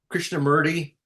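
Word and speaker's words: Krishnamurti: say his first name Chandra SAR is that kishna mury Krishna mury yeah yeah so theoretically that is an exemplary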